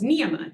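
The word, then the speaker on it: नियम: We now have one with 3 short syllables, niyama. Niyama, right? If yamas are the restraints, niyamas are the observances. And so we again put the emphasis at the beginning, niyama, because they're all short.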